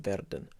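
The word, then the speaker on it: werden: and you can just flip the r in verden so not a ver than just a verdan it's a useful thing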